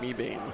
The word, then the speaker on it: Mebane: It's pronounced Mebane.